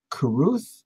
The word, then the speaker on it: Carruth: And we're here today with Carruth.